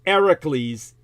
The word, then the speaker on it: Hercules: you'd say Hercules like herk The Jerk It's ericles in the Greek okay ericles the H is silent English pays it literal lip service and